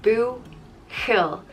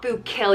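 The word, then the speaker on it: buachaill: mahan bukul is boy in irish and it's boo hill the it's not boob kill you don't pronounce it like it's like a bukil next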